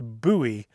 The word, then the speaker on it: Bowie: south of the Town buoy Arizona spelled like Bowie pronounced buoy uh and every time